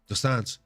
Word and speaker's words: dos Santos: elisio zesi Doan um folks that's how they say it in Brazil dosan so I know we always say alisio zaleski dos Santos but it's uh dosan so the dude's nickname